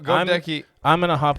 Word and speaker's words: Goedeke: Goedeke. I just said go Deke. It sounds like think about that though. Go Deke 'em.